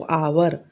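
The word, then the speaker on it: hour: लेकिन हम पढ़ते क्या है इसको? आवर। ठीक है? तो ओ से पढ़ते हैं हम। तो इसलिए एन लगेगा। एच साइलेंट होता है इसमें।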